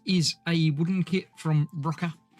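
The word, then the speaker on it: Rokr: This is a wooden kit from Rocker. I assume it's pronounced Rocker. It's R-O-K-R.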